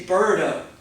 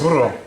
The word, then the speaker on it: burro: I say birdo, birdo. They're like, it's not a birdo. There's no such thing as a birdo in Spanish. Everybody know how to say it? Right, a donkey? Can you roll your R's? I used to be. Did somebody roll their R's? Burro.